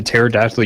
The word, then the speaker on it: pterodactyl: did digitally when a pterodactyl urinated sound because the P is silent nephew Luke will be